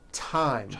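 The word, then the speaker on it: thyme: spelled with a TH, they are pronounced as if they were spelled with a normal T, like that. And these words are Thomas, Thompson, Teresa, Thailand, Thames, like the river, Esther, and time, which is a spice.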